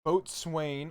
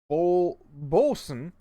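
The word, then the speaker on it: Boatswain: of the trader joe's boat swain or actually wait that's not the right way to box wayne oh swain pronounced bolson it's their like house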